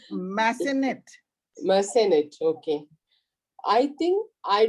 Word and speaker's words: Massenet: A first night means a first performance of an opera of Mazzenettes. Am I correct in the pronunciation? Mazzenettes, huh? No Yeah. idea. It's Massenet.